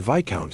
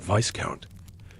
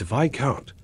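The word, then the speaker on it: Viscount: Marquis is not Marquest and Viccount is not vicecount. It's Viccount which sounds like a minor vampire.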